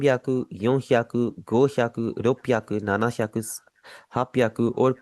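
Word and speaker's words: ろっぴゃく: 600 को आप रोकू श्याकू हरगिज़ नहीं बोलेंगे। आप इसे बोलेंगे रोपियाकू।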